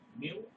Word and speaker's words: mu: Mu is a Greek letter pronounced as mu.